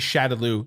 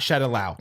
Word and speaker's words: Shadaloo: yeah so canonically speaking capcom of america will say that shadaloo is chattaloo not shed allow i right maybe i